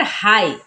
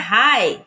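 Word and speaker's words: high: silent कैसे जैसे है यहां पर हाई हाई में अगर आप ध्यान दें तो जी एच एक साथ है तो यहां पर इसे नहीं पढ़ेंगे तो क्या पढ़ते हैं हाई फॉट यहां पर भी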